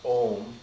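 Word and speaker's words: Ogham: have a word called Om. It's spelled O-G-H-A-M, and the G-H is, I guess, pronounced kind of like the G-H in dough. You know, it's a silent G-H, so it's pronounced Om, and that's the word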